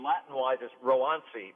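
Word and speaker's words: Roansy: ronzi ronzi yeah most people are calling it roncy uh it's you know for the the latin the correct pronunciation latin wise is rowansi rowanci contreras okay all right uh three innings shutout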